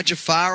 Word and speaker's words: Jafar: you got to be jafan right now well I'm just getting my Jafar on uh ja jafan yeah exactly I'm even saying it wrong man what am I